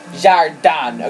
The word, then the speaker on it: jardin: for garden I mean in both French and Spanish it's jardan okay that's the French pronunciation I'm guessing the Spanish